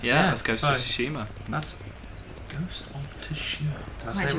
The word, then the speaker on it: Tsushima: Yeah, let's go to so- Tsushima.